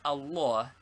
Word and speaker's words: Allah: the only deity for how is allah pronounced the middle father is very broad and is pronounced like or in awful and this reacts upon